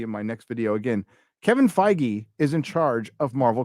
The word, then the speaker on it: Kevin Feige: No, I remember people didn't know who Kevin Feige was, and when he was first becoming like better and better known, the funny pronunciations would be like Kevin Feige, Kevin Feige.